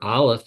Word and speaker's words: Aleph: Remember, Aleph is silent.